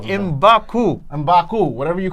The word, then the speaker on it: M'Baku: No, I have no problems with Marvel calling him, what is him, M'Baka, or whatever you call him. M'Baku.